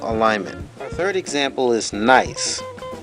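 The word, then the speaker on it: gneiss: our third example is nice the g is silent so nice is a high-grade metamorphosis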